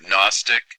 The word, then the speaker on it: Gnostic: throughout this whole video at first I thought he was saying agnostics but he's trying to say gnostics he's trying to say